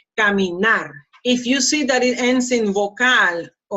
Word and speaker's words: caminar: or S, then, and if you don't see kind of like this, an accent mark, then the pronunciation goes in the last one. That's why I say caminar.